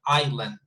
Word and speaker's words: island: in the case of this one we don't pronounce yes okay so it's not iceland but island island you see so let's have a look